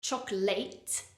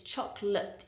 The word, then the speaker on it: chocolate: and notice how the final vowel sound in that word it's not chocolate it's chocolate it's a weak sound uh chocolate another word